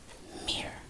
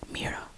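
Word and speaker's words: mirë: here or not, but mira or mir, you can say it without the and this means I'm good, mir. I'm trying to think the way that you could say this. Am I, me, sounds the same as me. Me, her, mir. And you just add an r at the end or an r at the end.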